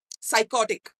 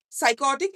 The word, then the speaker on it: psychotic: it is something like psychotic psychotic is sounding not from P it is sounding from s that cannot be considered